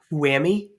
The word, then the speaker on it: whoami: separate arguments, but we use it all as one, which is pronounced whoami because it's all jammed together.